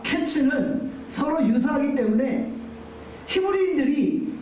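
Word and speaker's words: קֵץ: 여름 과일은 히브리어로 카이츠입니다. 끝은 히브리어로 캐츠입니다. 카이츠, 캐츠. 뭔가 이 발음이 유사하잖아요.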